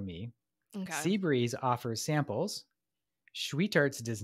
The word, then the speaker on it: Schwietert: So the 2 ice cream shops, there's I think it's pronounced Schweetarts, SCHWIETERT, Schweetarts.